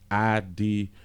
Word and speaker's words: Idris: That's what Idris, Idris, I-D-R-I-S, so I guess it's pronounced Idris Elba.